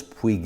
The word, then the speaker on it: Puig: on my windshield install this is a queeg I was told the correct Spanish pronunciation is Puig a windshield and it